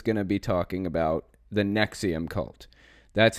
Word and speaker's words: NXIVM: this episode is gonna be talking about the neck see'em cult that's how it's pronounced and ex IVM it's pronounced nexium we're gonna be going through it a little